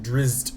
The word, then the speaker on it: Drizzt: In a world where we're one turn away from dying, it's Pronounced Drizzt.